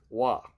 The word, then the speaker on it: Roy: montreal this is patrick wah uh some people might say his name is patrick roy by memories french with patrick wah because he's french there's a back of